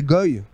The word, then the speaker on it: goy: d'où ce mot les GO ça vient de l'hébreu qui s'écrit g W y qui veut dire nation et qui se prononce Go la Vig a été